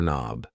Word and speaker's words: knob: A door knob. Yes. The K and knob is silent.